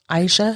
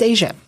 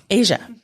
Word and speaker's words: Eija: “Aisha?” It's “Asia,” Eija.